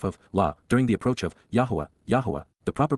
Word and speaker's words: Yahowah: Because indeed, ky, for the express reason, on behalf of, during the approach of, Yahuwah, the proper pronunciation of the name of Eloah, God as